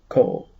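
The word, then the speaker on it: כל: it's spelled with hollam both forms are pronounced kol kanaf it's a feminine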